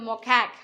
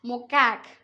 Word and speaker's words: macaque: animal is lion tailed macaque how to pronounce this children mocak isn't it macaque we can pronounce even macaque is the uh type